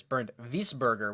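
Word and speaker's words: Bezuidenhout: we spur ger or actually things pronounced out here is burned this burger would be the right way to say this oh no he's still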